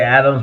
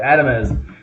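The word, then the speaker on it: Adames: I always forget how to say his name because it looks so much like Adams. I want to say Adams, but there's an E in there. Adamez drove him home on a home run.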